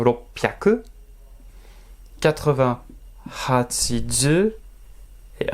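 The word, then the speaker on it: 六百: Attention, prononciation ropyaku.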